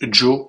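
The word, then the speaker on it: Zhou: Alors, le Z H U, ça se prononce Joe en chinois.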